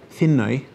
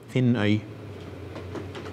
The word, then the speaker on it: Finnøy: Finnøy. How do you spell it? F-I-N-N-Ø. Yeah. That's the Scandinavian Ø. E-Y. Finnøy.